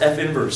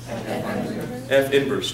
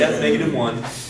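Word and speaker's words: f⁻¹: it just it's pronounced f inverse so let's all say this with me for a function f the inverse is denoted what is that f inverse don't say f negative one okay don't say that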